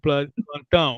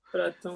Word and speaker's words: Platon: Donc, comme les Anglais disent Platou. Mhm. Et le portugais Plantan. Ok, c'est beaucoup. Platon. Donc, Ouais. Platon, c'est lui qui a Là, commencé tu vas l'université. confondre Platon et Platon.